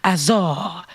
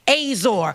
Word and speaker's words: Azar: languages said it, and they were all saying Azar, right? Just like that. And then he put it in English, and English was the only way that was saying it wrong. Azor.